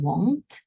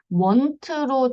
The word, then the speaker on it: won't: 이걸 줄여서 won't라고 해요. won't. want로 발음하는 경우가 종종 있는데요. 그 won't예요.